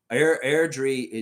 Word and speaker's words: Airdrie: Jillian saying, Lex, respectfully, it's actually Airdrie near the mountains. Airdrie.